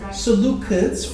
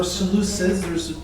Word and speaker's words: Seleucids: Okay, Seleucids or Seleucids. There's reference to both.